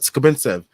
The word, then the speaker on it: Skapintsev: I didn't know how to say it before, but Skapintsev.